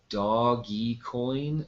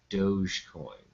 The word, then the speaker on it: Dogecoin: this before yeah uh Dogecoin must be pronounced doggy coin not Dogecoin it was doggy coin